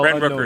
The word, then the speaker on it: Brent Rooker: Um Brent Rooker, if I'm mispronouncing any of these names is because that's how Brent Rooker is correct.